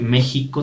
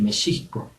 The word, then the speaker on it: México: sobran por ejemplo entonces la pronunciación de la equis actualmente pues se pronuncia como jota pero tiene más bien un sonido de sh o sea desde decir méxico tendríamos que decir mi chico todas las palabras que